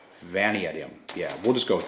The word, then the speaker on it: Vanadium: a 4150 Chrome Molly validium V vum I always pronounce that word wrong Vanadium yeah we'll just go